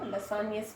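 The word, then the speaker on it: Lassaigne: G is silent here, Lasagne's test.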